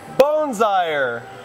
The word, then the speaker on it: Boonzaaijer's: he is with more hey good morning from bones Eyres where we are hanging out with chef Stephen bones i er two for two we're good okay if you can't pronounce that just look for seriously it's a